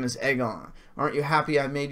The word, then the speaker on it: Aegon: are you talking about everyone saying egg on cuz we just confirmed it's egg on maybe the two egg